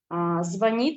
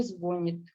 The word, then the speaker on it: звонит: Например, звонит, но не звонит.